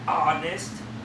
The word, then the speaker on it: honest: Thì chữ hát trong tiếng Anh là cao thì kia là hai, nhưng mà cái chữ thật thà thì đọc là honest. Có chữ hát chứ mình kêu là honest.